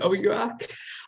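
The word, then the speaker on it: OUAC: accept on our o-u-a-c it seems like a lot of people pronounce it differently we were all told to call it oh yuak um you can that's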